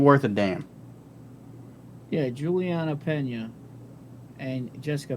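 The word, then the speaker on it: Peña: saying it ain't worth a damn yeah juliana pena and jessica penney i think we're saying it wrong yeah i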